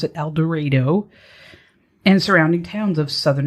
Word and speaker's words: El Dorado: citizens of el dorado i want to say el dorado but apparently you pronounce it el dorado and surrounding towns of southern illinois now i